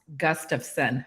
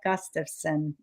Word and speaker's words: Gustafson: holiday to my name so it's pronounced Gustafson it's Swedish so think the phrase gust of wind and you trade the wind for the sun gust of sun isn't that easy wonderful